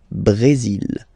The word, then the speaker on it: Brésil: Okay, you will pronounce the final L here, and then remember, accent aigu goes like E. Brésil. Le Brésil.